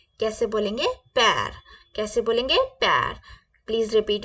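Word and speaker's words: père: father को कैसे बोलेंगे फ्रेंच में फादर को बोलेंगे हम पैर कैसे बोलेंगे पैर कैसे बोलेंगे पैर प्लीज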